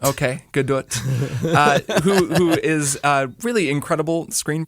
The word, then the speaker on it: Gadot: This is Warner Brothers, directed by Patty Jenkins, starring Gal Gadot and Gal Gadot. I know you say the T. Yeah. That is the most like Indiana way of pronouncing an Israeli name.